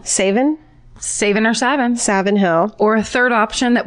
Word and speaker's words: Savin Hill: Boston and 7th near South Boston say in Savin Hill spell it sa VI n o Savin saving our Savin Savin Hill or a third option that we could never